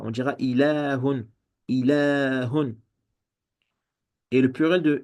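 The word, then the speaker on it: إله: Ilahun. Donc ici, il y a une prolongation. On la prononce, mais on la prononce, mais on l'écrit pas. On dira ilahun, ilahun.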